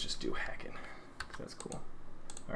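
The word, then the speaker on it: CeWL: for tags let's just do hacking cause that's cool all right that should be cool so i was saying the thing that jumps out to me is is cool curling site specifically spelled c-e-w-l cool c-e-w-l is a known tool uh for penetration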